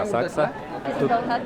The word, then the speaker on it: Asakusa: пришли к храму Акса асакуса по-моему так пишется но они произносят както асак тут Людей очень много